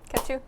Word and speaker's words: Ketu: name I came up with was uh ketu cat two cat two oh cut two no cat two cat two how do you spell that k-e-t-u yeah catch you perfect I like it catch you simple easy